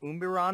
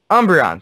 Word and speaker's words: Umbreon: a really hard one I think I like umberon if I'm pronouncing that right which one is it she's